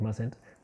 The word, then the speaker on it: mustn't: Okay, notice mustn't, you don't pronounce it, okay, when you say the negative mustn't, but it's still there.